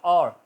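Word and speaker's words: hour: इसी तरह और, घंटा, OUR, और की आवाज़ आ रही है, H नहीं बोला जाए, हॉवर नहीं कहेंगे, और।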